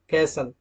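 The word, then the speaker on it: castle: rule के मुताबिक okay T is often silent in एस टी ई एन एफ टीई एन एस टी एल ई अगर दोस्तों किसी word के लास्ट में यह वर्ड आते हैं मतलब कोई वर्ड इनसे मिलकर अगर बनता है और यह लास्ट में होते हैं तो वहां पर टी को साइलेंट रखा जाता है example listen often कैसल TC okay next slide पर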